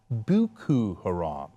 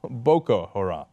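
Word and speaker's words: Boko Haram: it he called it buku Haram which sounds a lot more fashionable right uh it's not buku it's boa Haram okay and remember of course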